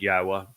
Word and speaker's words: Yahowah: the W and haa the very verb that yahwah told Moshe served as the B of his